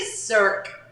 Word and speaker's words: Cirque: because I can't pronounce circus Olay circus Olay just say sir that's it sir I could do that